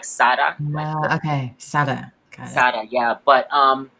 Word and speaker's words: Sara: and i'm so glad that you brought up sarah ramirez oh yeah yeah which by the way she likes to um pronounce her name sara so so it's like